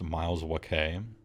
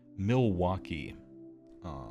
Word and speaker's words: Milwaukee: You believe it's pronounced Miles Wakay, which means the Great Land. It's pronounced Milwaukee, which means the land of hack frauds.